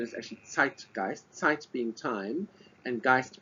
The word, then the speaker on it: Zeitgeist: I'm married to a German so the correct pronunciation is actually TI gist tight being time and gist being ghost so